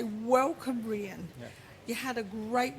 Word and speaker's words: Rhein: It's Rhein. Rhein, rhyming with?